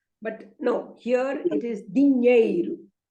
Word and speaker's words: dinheiro: But no, here it is dinheiro. Dinheiro. You have to touch the tongue to the palate, and the stress is on that ñe. So dinheiro.